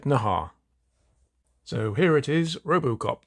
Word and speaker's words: Naha: no not that Ed Ed Nahar yep that's the way how you pronounce it Ed Nahar so here it is